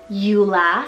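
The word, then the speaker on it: Eula: a Polish rooted name meaning wealth or Fortune Ula spell e u l a Ula this is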